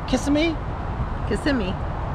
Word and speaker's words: Kissimmee: Kissimmee is how they pronounce it, I think.